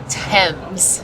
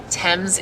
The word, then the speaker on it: Thames: see a view of London from the River Thames, is how it's pronounced. We asked one of the guys on the boat to finally clear it up. So Thames is how it's pronounced.